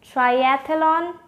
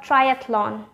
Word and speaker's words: triathlon: last one is this how would you pronounce it triathlon or triathlon with four syllable or just three syllable which one is correct the one with the three syllable is correct try at lawn not try as a lon the one with four